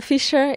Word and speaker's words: Fišer: It's Fišer. It's a Czech name because my grandparents are from the Czech Republic, and that's why it's spelled a bit differently than you would assume.